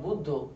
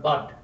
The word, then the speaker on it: Buddha: Buddha, it is not bud. This bud of the flower, bud.